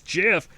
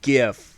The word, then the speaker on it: GIF: is like no it's jif no it's gif okay that's what the letters are for graphic is the first word so it's a hard g all right anyone who